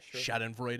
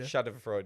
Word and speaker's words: Schadenfreude: Schadenfreude. Schadenfreude, yeah.